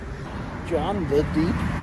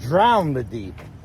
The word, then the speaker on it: Drown the Deep: No, not John the Deep. It's Drown the Deep. You Pittsburgger. Say Drown the Deep. Not John.